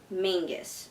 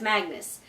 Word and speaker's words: Magnus: Originally, I thought the name was pronounced Mangus, so I don't know what happened there. But apparently you say his name as Magnus.